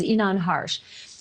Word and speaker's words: Inan Harsh: neighbor that you had a chance to interview, I believe it's the pronunciation of his name is Inan Harsh.